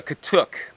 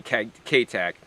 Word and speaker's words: katuk: It's simply known as the katuk, K-A-T-U-K, or in Florida they spell it K-tac, or they say K-tac.